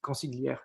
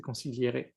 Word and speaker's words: consigliere: Ah par contre, je ne connais pas l'histoire derrière effectivement, mais rien que la manière de l'écrire, ça tu le prononcerais consiglière et c'est pas ça, c'est consigliere, donc rien que cette manière-là.